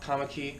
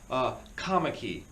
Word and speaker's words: Kommetjie: I was like, okay, sure, how do you spell Kamaki? Because in my head, I'm thinking it's spelled some way, but in South Africa, it's spelled differently. I was like, oh yeah, Kamaki, yeah, that's Kommetjie.